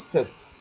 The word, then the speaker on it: cet: Et on prononce 7.